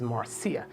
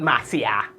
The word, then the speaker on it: Marcia: it's a sexy name her name is Marcia not Maria grenadians have no fin when